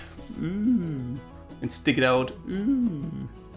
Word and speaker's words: ü: Well, like this. Ooh. Make your mouth like ooh round. Ooh.